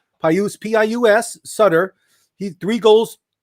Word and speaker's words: Pius: rookie from chicago blackhawks i can never say his name pius sutter paius p-i-u-s sutter he three